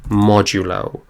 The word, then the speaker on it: modulo: and that's this percent sign and this is pronounced modulo what modulo does in programming is it gives